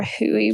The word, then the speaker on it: Hooey: But definitely be on your lookout for Huey brand. It's spelled Hooey.